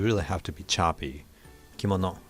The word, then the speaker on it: kimono: of the word kimono so in english maybe probably the case in tagalog too maybe but it's like kim no so kim it's kim consonant vowel consonant moon m-o-n and no so each syllable carries three sounds a constant vowel consonant in japanese it's a lot more uh crisp and choppy so it's really kimono like a ki so